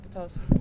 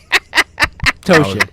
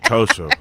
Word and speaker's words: Ptosha: Oh, Lord, he called me Ptosha. Did I say it wrong? I always say it wrong. Help him out, Rahim. Help him out. I can't help you, brother. No. Ptosha. Ptosha. The P is silent.